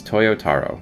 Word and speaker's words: Toyotaro: know how to say it guys okay it's toyotaro that's how you say it i know how